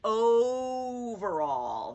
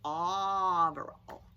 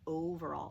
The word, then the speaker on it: Overall: right i do but mine is a long o mrs overall that o says its name i'm not mrs auberal yeah mrs overall so we'll talk about